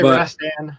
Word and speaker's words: Rastan: Rastan, I guess that's how you say it. Is that how you say it, Owazrim? Rastan? Say Rastan, but yeah, yeah.